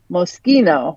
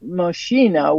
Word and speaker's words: Moschino: Okay, so the correct pronunciation is Moschino, not Moschino, which is what I just said.